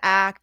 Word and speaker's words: ACT: calling it ACT, because most people call it ACT. Oh, is that And right? yeah, and it is pronounced ACT.